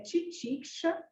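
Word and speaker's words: तितिक्षा: Então, o trabalho, a pronúncia é titiksha.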